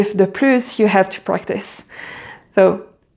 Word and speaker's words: plus: So we pronounce the final S like a Z together with the following word with the vowel sound as if it was one single word. So, plus entendre.